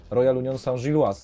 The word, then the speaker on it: Royal Union Saint-Gilloise: Ja jestem ciekaw, w jakiej ty grasz drużynie, bo polscy kibice będą potrzebowali takiego tutorialu, jak się wymawia nazwę. Royal Union Saint-Gilloise, tak?